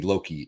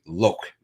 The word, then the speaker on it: Loki: So for anybody that hasn't followed on what this conversation's been about, apparently Loki shouldn't be Loki. It should be Loke.